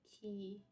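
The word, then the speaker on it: quay: is pronounced as key not qu okay the pronunciation is like key sound it sounds like here so it's actually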